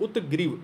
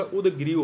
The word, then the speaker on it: उदग्रीव: उत्ग्रीव, उत्ग्रीव नहीं होता, उदग्रीव होता है। उ, एक सेकंड, उ दा पे यहाँ नीचे हलंत, ग्रीव, सुग्रीव वाला ग्रीव।